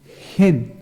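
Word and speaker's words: חן: El texto o el término gracia en hebreo es gen, así se escribe, gen, con H, gen.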